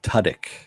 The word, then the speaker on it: Tudyk: best hope for the best bad bunny Alan Tudyk is how it's pronounced not you wrote it there but thanks